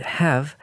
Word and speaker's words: have: we should have grown up together" – but more often it's pronounced without the first [h] and the vowel sound is also reduced, so the word "have" sounds like a quick : "would have made it easy ...